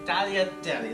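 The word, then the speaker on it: tagliatelle: the world Talia Deli it's not t it's Talia Deli that's the the corre that the correct Italian pronunciation of how to say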